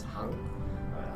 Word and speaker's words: Hang: My name is Hang. Hank's pronounced kind of the same, so it's easier as well.